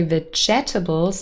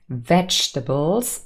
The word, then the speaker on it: vegetables: people mispronounce and say vegetables but that second e is silent it's vegetables or veg in robot